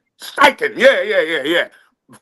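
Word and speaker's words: Steichen: Um, what's the what's the how do you pronounce that? Uh, Shane Stretching. How do you say his name? The coach. Stiken. Stiken.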